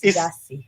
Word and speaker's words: Giasi: It's written Giasi, but she says it's Giasi.